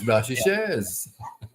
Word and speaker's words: Blanchisseuse: You pronounce the name of towns and so on in the way in which the people of the area pronounce it. As for instance, although it's a French name, one would never speak of going to Blanchisseuse. That is true. It's Blanchisseuse.